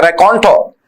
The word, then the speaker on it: raconteur: जो छोटे छोटे किस्से सुनाने में माहिर होता है उसे बोलते हैं रैकॉन्टो। रैकॉन्टो। हाँ जी, स्पेलिंग देखिए RACONTEUR, रैकॉन्टो। रैकॉन्टर हिंदी में लिख रहा हूं, फिर इंग्लिश में देखेंगे।